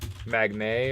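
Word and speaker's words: Magnette: magnet okay but he but he pronounced it odd magnate or something oh it's cuz it's got two T's magnet the mg magnet it's got it's like a vignette god that looks so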